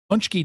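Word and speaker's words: pączki: Pronounced Those are Punchki.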